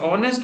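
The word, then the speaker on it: honest: Dash ऑनेस्ट officer. ऑनेस्ट में देखिए आता तो एज है लेकिन याद रखना एज साइलेंट है और आपका जो ये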